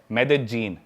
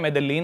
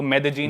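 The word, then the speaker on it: Medellín: उसकी एक सिटी है मेदजीन स्पेलिंग में उसमें डबल एल आते हैं मेदलीन होता है लेकिन कोलंबन स्पेनिश में ल को ज बोलते हैं तो मेदजीन वो शायद उसकी मेन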